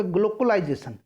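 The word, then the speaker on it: glocalisation: ना, तो देखिए यहाँ ग्लोकलाइजेशन लिखा हुआ है। ग्लोकलाइजेशन में दो शब्द है, एक तो ग्लोबल है और दूसरा लोकल है। उच्चारण देखिएगा, ग्लोकलाइजेशन, GLOCALISETION, क्लियर है?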